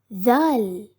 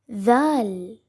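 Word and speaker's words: ذال: The sound of this letter is similar to when we say the words the, they, and them.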